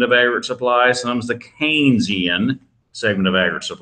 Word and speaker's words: Keynesian: in the Keynesian segment it looks like Keynesian but it's pronounced canes like Raising Cane's chicken fingers Ian Keynesian that is the name